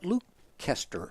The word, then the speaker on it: Leicester: Well, it's spelled that way, but I heard a Brit call it Leicester.